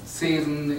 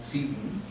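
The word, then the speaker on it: Zeesen: In German, Zesen, in English we would pronounce it Season.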